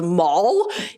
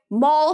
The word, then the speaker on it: Mal: character is not American, but the fact that Mal, M-A-L, which also happens to be my name, is pronounced by every other character in the movie as Darth Maul is...